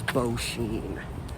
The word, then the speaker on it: Beauchene: h e n e i'm thinking it was bo sheen was how you pronounce the guy's last name and somewhere here literally